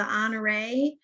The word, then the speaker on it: Honoré: the pronunciation of the honoré, and some people say it a little differently. So which one is correct? What's the correct pronunciation? It's French. It has its emphasis is on the last E, honoré.